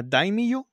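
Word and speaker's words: daimyo: como te dije un jueguito que se llama dieyo se escribe da d a i m y o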